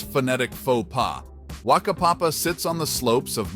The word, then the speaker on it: Whakapapa: Whakapapa, pronounced Whakapapa, might draw a stifled giggle from those unacquainted with Maori language nuances.